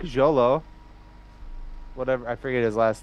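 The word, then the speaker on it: Xolo: a fan asked him at ComiCon how to pronounce his name and he said Jolo cuz it's like x o something yeah Jolo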